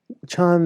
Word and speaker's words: Chan: Chan is the Chinese pronunciation of sudden awakening, which the Japanese pronounce Zen.